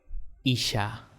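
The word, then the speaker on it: איש: Pero mujer se llama o se dice en hebreo Isha.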